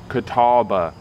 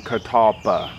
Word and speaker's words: Catalpa: Native American word but it's spelled and pronounced a little bit different than the Native Americans who pronounced it Catawba rather than Catalpa so the southern Catawba